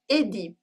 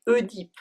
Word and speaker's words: Œdipe: However, in some words, the E dans l'eau stands by itself and it's pronounced E, as in Édipe or fetus. But most French people still pronounce it E, like Oedipe.